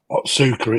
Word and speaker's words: Otsuka: Now, how do you pronounce that? Otsuka, it's supposed to be.